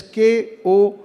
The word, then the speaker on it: kokoro: you it's called and it is spelled as k-o-k-o-r-o and what kokoro means when you say you